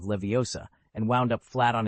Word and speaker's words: Leviosa: No slurring or muddling or you'll end up like Barufio who said Levioa instead of Leviosa and wound up flat on his back with a rather disgruntled bison grazing on his chest.